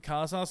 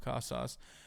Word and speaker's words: Casas: Full year Tristan Casas is going to be sick.